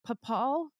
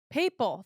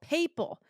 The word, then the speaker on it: papal: okay what is it papal that's it I'm like I know it's not paal papal I should know that